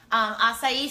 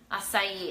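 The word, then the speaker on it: açaí: So Tracy, it's spelled A-C-I, A-C-A-I, acai. And a lot of people pronounce it acai, but it's actually acai.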